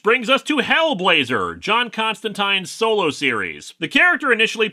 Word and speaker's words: Constantine: while we're at it I've been informed that John's name is pronounced Constantine but I might slip into Constantine by accident and not notice plus